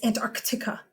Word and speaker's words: Antarctica: it all like choppy it's Antarctica Antarctica and arctica Antarctica it makes it choppy this is done